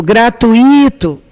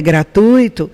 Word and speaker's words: gratuito: tauba quando você usa mudança de sílaba tônica por exemplo gratuito tá errado quando o correto é gratuito você usa um vício